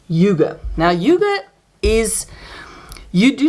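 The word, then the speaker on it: hygge: honest in Yuga so this is how you pronounce this word Yugo now Yuga is you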